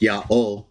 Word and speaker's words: Jah: Witnesses of J so even though I believe it's to be pronounced yah and I'm okay with Yahweh or yah I prefer y ja in English